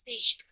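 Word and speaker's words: Fisch: s I understand how f i s c h I think that's just still pronounced fish no it's pronounced fish okay have fun I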